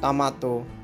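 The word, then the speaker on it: トマト: বাংলা ভাষায় টমেটো, Japanese ভাষা হবে টমাটো, টমাটো, টমাটো, উচ্চারণটা হবে টমাটো।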